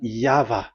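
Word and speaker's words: YHVH: Y H V H. So it is YAHVAH.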